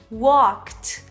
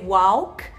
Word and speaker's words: walk: Talk talked talked e atenção também para Walk e Talk que não vai ser Walk e nem Talk a gente não vai pronunciar esse a como a e o a e o l vão ter essa combinação do a e o l vão ter um som de o Então vai ser Talk